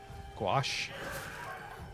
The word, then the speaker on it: gouache: Gouache? That's not how those letters work. It's a French word, isn't it? Those dang French and not pronouncing letters.